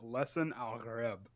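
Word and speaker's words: Lisan al-Gaib: of that word, and because it's Arabic, the G is actually pronounced as a guttural R. So this is just all theory, but based on that, it should be pronounced Lesson al-Gharib.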